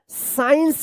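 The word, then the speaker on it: science: साइंस पढ़ेंगे। साइंस यहां पर सी जो है ना साइलेंट रहेगा क्योंकि एस के बाद सी आया है।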